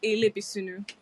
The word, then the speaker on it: Elebesunu: It's pronounced Elebesunu.